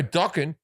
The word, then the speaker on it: Dokken: He goes, you don't know docking? It rhymes with rocking.